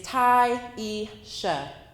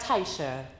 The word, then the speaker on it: Tyiesha: My name is Tyisha. Instead, I got Taisha, Tasia, Triisha, or some other version with silent letters.